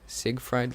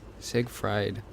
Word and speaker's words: Siegfried: you see a fried siegfried line I believe that's the correct way to pronounce it say sig fried line close enough probably